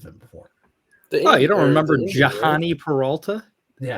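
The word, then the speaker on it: Jhonny: You don't remember Johnny Peralta? Yeah, as some people would pronounce it, because the H is right after the J.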